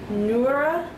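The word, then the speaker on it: Noora Laivola: How do you pronounce her name? Noora, N-O-O-R-A, and then her last name is L-A-I-V-O-L-A.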